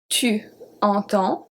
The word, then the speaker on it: entends: So the 5 first ones are pronounced exactly the same since we don't pronounce the S. The S is a silent letter.